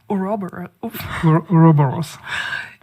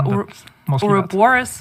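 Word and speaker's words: Ouroboros: specific incursion that is called or I cannot pronounce it for the life of me oros so this this giant just say yeah oroborus oroborus sorry uh yeah this giant snake but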